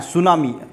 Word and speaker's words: tsunami: देखिए सुनामी के में एक बात ध्यान रखना कि सुनामी का जो स्पेलिंग स्टार्ट होता है वो टी से चालू होता है, ठीक है, TSUNAMI सुनामी।